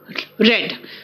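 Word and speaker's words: read: होंगी I will have रेड रीड रेड रेड spelling तो same है है ना लेकिन आपका प्रोनंसिएशन अलग होता है रीड रेड रेड देखो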